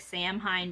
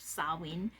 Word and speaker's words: Samhain: Samhain is underway, which it looks like Samhain, but it's pronounced Samhain.